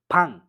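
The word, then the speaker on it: 방: এখানে ইয়ক মানে কিন্তু স্টেশন, রুম, ফাং, এখানে একটু উচ্চারণ এই বাংলাটা ভুল আছে, এখানে ফাং হবে, রুম, ফাং, ফাং, দক্ষিণ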